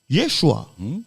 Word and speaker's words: Yeshua: on l'entend entre nous qui se prononce normalement Yeshua Dieu sauve bon Dieu